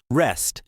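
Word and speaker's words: wrist: Rest, rest. rest معنی ده مړوند. مړوند ته په انګلیش کې rest وایي. دا ډبلیو پکې سایلنت دی نه تلفظ کیږي.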